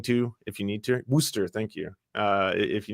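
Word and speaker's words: Worcester: look into traveling to if you need to Worster thank you uh if you need to travel Worster yeah well it looks like it's pronounced Worchester Worchester but it's it's wer oh I think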